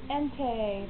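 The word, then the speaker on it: Entei: Entie from Pokemon. Entie is spelled E-N-T-E-I.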